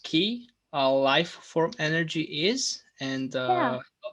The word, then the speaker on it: ki: And so it's a huge thing, is like kind of taking our power back and having enough willpower to disconnect from technology.